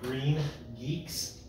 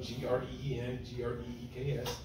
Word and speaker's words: GreenGeeks: One of them is called Green Geeks, just like it's spelled GREENGREEKS. Green Greeks? Green Geeks. Geeks, okay. As in, somebody that's weird. No R.